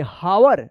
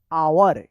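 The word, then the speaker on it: hour: हावर नहीं इसको पढ़ा जाएगा आवर। क्या पढ़ा जाएगा? आवर पढ़ा जाएगा। यहां पे भी क्या है? एच साइलेंट है।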